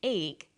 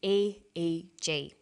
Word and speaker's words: EEG: says an 88 g that's an abbreviation we don't pronounce it egg we say aeg aeg stands for electroencephalograph